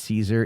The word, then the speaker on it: Caesar: DM did you know the real way to pronounce Julius Caesar is Julius Kaiser I don't care I